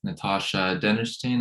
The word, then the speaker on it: Natasha Dennerstein: and today I'll be conducting an interview with Natasha dennerstein am I pronouncing that correctly yes you are she's a